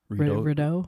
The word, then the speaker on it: Rideau: Not that I'm a skater, but I want to skate the RTO. RTO. Is that how you say it? Yeah. RTO.